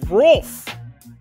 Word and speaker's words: Rolf: To Rolf. Sorry, bro. R-O-L-F. So it's like wolf, but with an R in front of it.